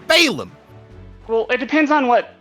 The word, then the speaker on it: Balam: spelled b-a-l-a-m Balaam balam all incorrect apparently it's Balaam well it depends on